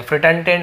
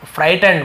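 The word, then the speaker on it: frightened: Terror, horror और इसे हम फ्राइट पढ़ेंगे, फ्रिटेंडेंट, ऐसा ना, फ्राइटेंड बोलते हैं उसे, फ्रिटेंडेंट, फ्राइटेंड यानी डर जाना।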